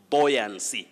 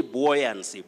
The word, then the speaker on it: buoyancy: we have cleophasmasical nairobi buoyancy don't say buoyancy bo no that you is silent you say buoyancy then bernard we